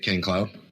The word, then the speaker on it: KaineCloud: Is that how it's pronounced? Yeah, that's how you say it, Kaine Cloud.